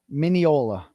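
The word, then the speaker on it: Mineola: Miniola.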